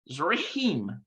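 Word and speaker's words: צריכים: right listen to that it's very difficult to pronounce it's zeroheem it means to need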